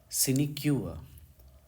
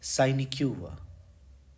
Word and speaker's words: sinecure: शब्द लिखा है SINECURE, इसे हम पढ़ते हैं सिनिक्यूआ, सिनिक्यूआ, या फिर दूसरी स्टाइल में साइनिक्यूआ, साइनिक्यूआ, ठीक है। कुछ लोग इसको साइनिक्यूआ पढ़ते हैं, लेकिन करेक्ट प्रोनाउंसिएशन इसका सिनिक्यूआ है, या साइनिक्यूआ, साइनिक्यूआ, ये स्टाइल होनी चाहिए।